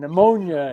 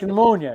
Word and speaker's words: pneumonia: said pterodactyl yeah pterodactyl it's like pneumonia it's not pneumonia ponia English is such a